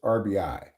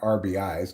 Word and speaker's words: RBI: Because it used to be that the correct way to say it is RBI, not RBIs, because it's runs batted in, right?